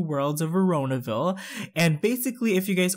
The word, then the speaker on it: Veronaville: was that I'm pronouncing it wrong apparently it's pronounced veronaville so literally a couple of you guys lost